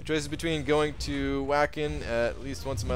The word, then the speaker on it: Wacken: It's pronounced Wacken in Germany, biggest metal festival in the world.